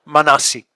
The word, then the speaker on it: Manasi: But what is interesting is amongst their traditions is an origin story that involves a hero figure named Manmasi, whose name is pronounced Manasi.